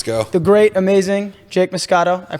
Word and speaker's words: Moscato: The great, amazing Jake Moscato. I pronounced that right, obviously. Italian. Jake, yeah, that's it. Yeah, Jake Moscato.